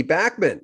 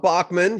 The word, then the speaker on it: Randy Bachman: gotten all this and Randy Bachman it's not Bachmann he doesn't correct people because he thinks Bachmann sounds good but I remember someone